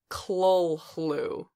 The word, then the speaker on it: Cthulhu: you're all and it's really pronounced chlo-chlo so so anybody who pronounces like that though